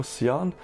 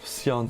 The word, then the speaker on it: Sion: epic bias oh no Shion or Seon so no depending on how you say his name and it's from third